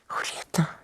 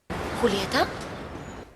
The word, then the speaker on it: Julieta: 영어식 표현이 줄리에타니까. 스페인 영화이고 또 극 중에서 모든 인물들이 당연히 스페인 사람이라서 훌리에타라고 발음을 하는데 이걸 굳이 영어식으로 해서 줄리에타라고 제목을 받은 것은 Julieta. ¿Julieta?